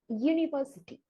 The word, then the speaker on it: university: But considering this noun phonetically, it will begin with the consonant sound Y. University.